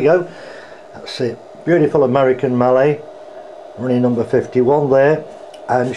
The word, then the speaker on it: Mallet: So there she is, that's the 2662, the Mallet, pronounced Mallet.